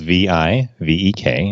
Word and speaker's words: Vivek: it's print it spelled and the is pronounced like the and Victor and the K is pronounced Vake so rounds it rhymes with Lake so that's what I